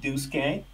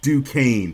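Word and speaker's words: Duquesne: D like that it's du Kane brother due I should know this whole time Duke I forgot the S is silent Duke K 710 Washington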